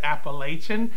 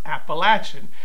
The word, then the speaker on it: Appalachian: And that, you know, people that are not from the South will tend to pronounce it Appalachian, which I think I did. And he corrected me and said that it's pronounced Appalachian.